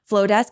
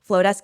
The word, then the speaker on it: Flodesk: Flowdesk is spelled FLODESK.